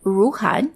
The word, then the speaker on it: Ruhnn: china's fast-growing sector of influencer marketing it's called rouhan that's spelled r-u-h-n-n and it's just filed for ipo